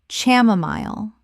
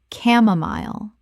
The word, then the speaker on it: chamomile: Chamomile. Correct pronunciation. Chamomile. The ch makes a k sound and the final syllable rhymes with mile.